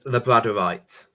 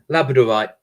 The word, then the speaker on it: labradorite: many times and it labradorite labradorite I or I always say the wrong pronunciation I always say labradorite but it's Labrador as in the country the breed of dog I don't think I